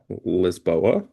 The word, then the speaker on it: Lisboa: Of course, we have the Lisboa, because that's how they pronounce it, sign.